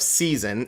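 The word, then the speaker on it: seisin: But if I say covenant of season, it's s e i s i n. Not like season of stake. That's spelled differently.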